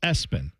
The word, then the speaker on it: ESPN: And when I say that, I mean ESPN spelled out pronounced Espen.